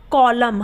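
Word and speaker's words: column: हम क्या बोलते हैं कॉलम हम कॉलम तो नहीं बोलते हम क्या बोलते कॉलम तो यहां पर एन क्या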